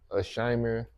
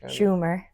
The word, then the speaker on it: Schumer: So today we'll be reviewing the new Amy Schumer, Scheimer. How you say her name? Scheimer. Schumer.